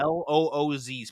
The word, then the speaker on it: Luz: I'm sitting there in the chat as you're saying it, being like, it's LUZ. Yeah. LOOZ. Pronounce it that way, please.